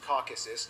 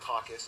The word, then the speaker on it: Caucasus: of Eurasia by Quinn's pronounced Caucasus not caucus a Caucasus when a